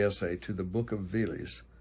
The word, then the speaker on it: Veles: I'm going to say Veles, v e l e s, on the Vardar River in North Macedonia.